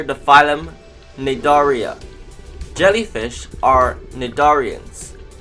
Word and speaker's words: cnidarians: phylum nadaria jellyfish are nadarians the sea in nadarians is silent other nidarians include coral